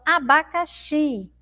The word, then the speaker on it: abacaxi: Então, abacaxi. Abacaxi. Então, observe como essa sílaba xi é uma sílaba forte, tá? Todos têm aí som de i, né? Abacate e abacaxi. Mas abacaxi tem a sílaba aí mais forte, não é? Xi é mais forte do que abacate, que é uma sílaba mais fraca, tá bom?